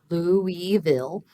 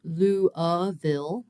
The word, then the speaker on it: Louisville: the phonetics so in in English in particular it's really common for us to take multi- syllable words like louville and sort of um centralize or reduce in some ways people say uh some of the vowels that don't have the stress so in a word